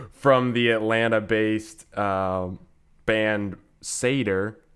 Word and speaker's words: Satyr: can pronounce it yeah we get a lot of satire and sits here and that kind of thing yeah but so yeah